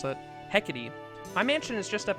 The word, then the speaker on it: Hecate: before it's gonna piss me off if i mispronounce it heckety the that is definitely not how i was going to try to pronounce it hecate my mansion is just up ahead along with